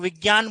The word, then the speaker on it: विज्ञान: और यह बनेगा मनोविज्ञान हालांकि लोग विज्ञान बोलते हैं लेकिन शुद्ध उच्चारण है विज्ञान क्योंकि ज और य से बनता है ठीक है मनः